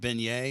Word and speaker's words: beignet: Oh, what's the, is it beignet?